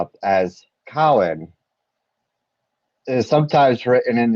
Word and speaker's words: Samhain: Obates, Bards, and Druids, the word Samhain is pronounced as Cowan.